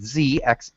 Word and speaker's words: ze: She also suggests Z and ZE and XE, both pronounced Z.